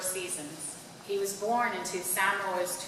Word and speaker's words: Samoa: experience moving from Samoa, what we would call Samoa, but the correct pronunciation is Samoa, in the Pacific, the